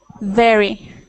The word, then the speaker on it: very: radio radio radio good good and next one very very good good okay sometimes when you make